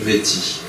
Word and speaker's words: métis: Et quand je dis métis, je prononce le S, alors que peut-être, pour être plus authentique, je devrais dire du métis.